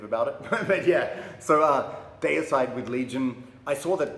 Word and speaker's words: Deicide: Okay, so I grew up in Australia, so the way I pronounce it is Deicide, because Deicide, it derives from the word deity, meaning God, and yeah, that's just how I was taught to say the word deity.